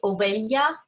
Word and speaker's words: Ovelha: We pronounce this as Ovelha, as if the H was a Y.